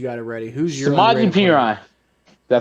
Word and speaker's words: Samaje Perine: Who's your Samaje Perine?